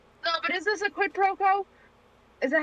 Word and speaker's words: quid pro quo: No, but is this a quid pro quo?